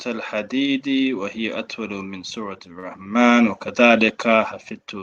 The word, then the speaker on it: الرحمن: من سورة الرحمن But وذلك don't pronounce the lam because the ra is a sun letter.